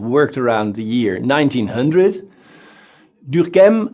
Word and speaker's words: Durkheim: Durkheim, I try to pronounce his name the French way, but maybe I will forget it later and give it a more German sound.